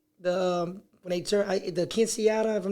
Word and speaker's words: quinceañeras: And I'm pretty sure, if I'm saying it right, when they turn the quinceañera, if I'm not mistaken, Quinceañeras.